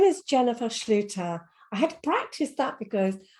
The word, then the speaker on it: Schlueter: with me today um her name is Jennifer Schluter I had practiced that because I get some